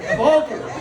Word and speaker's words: Walter: Now, in German, Walter is pronounced Walter.